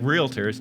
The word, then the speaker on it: realtors: And Joe still adds an extra. It's realtors. Googling it as we speak. There's no I in it.